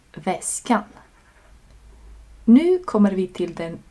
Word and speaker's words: väskan: 2 vokaler skulle göra uttalet svårare, så vi behåller bara en av dem, a. Så det blir inte väskaen, utan väskan.